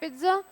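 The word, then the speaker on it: pizza: spelling पिज़्ज़ा होती है इसको बोलते पिज़्ज़ है टी का साउंड आता है बट स्पेलिंग में टी नहीं आता है ओके नेक्स्ट क्वेश्चन इट्स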